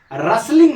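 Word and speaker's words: rustling: Tense heard आवाज सुना रेसलिंग noise यहां जो है ना टी साइलेंट है। टी क्या है इसमें? साइलेंट। साइलेंट मतलब टी का उच्चारण नहीं होगा।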